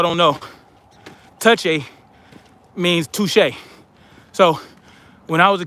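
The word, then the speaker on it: touché: back in the day i'd see the word touche and i would call it touchy that's how i pronounced touche back in the day touchy i was like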